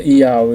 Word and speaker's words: Yauh: Ele falou e se pronuncia ial.